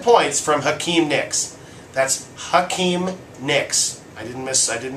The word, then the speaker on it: Hakeem Nicks: That's Hakeem Nicks. I didn't mispronounce that.